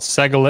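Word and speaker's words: segolate: what they're named after with this penultimate stress this accent not on the last syllable not here but over here these are called Sehgal it's and if you remember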